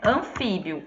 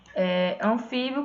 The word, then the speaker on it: anfíbio: Ó, esse bio aqui, ele é pronunciado todo junto. Anfíbio. Certo? Quando a gente fala, a gente não fala anfíbio. A gente fala anfíbio.